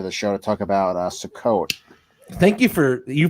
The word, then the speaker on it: Sukkot: I invited Aunt Nancy onto the show to talk about Sukkot. Thank you you pronounced that right, and thank you for distracting